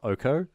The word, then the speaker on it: Oko: get angry comments about how we pronounce it Oko and not Oko.